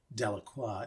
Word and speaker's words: Delacroix: So there's a lot of pronunciations, but I will say I have it on good authority that the pronunciation of the word as Delacroix is actually the High Gothic version of it.